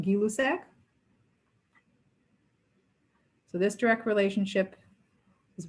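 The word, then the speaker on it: Gay-Lussac: the other increased directly the scientist's name was guy lusek or properly pronounced gilusek so this direct relationship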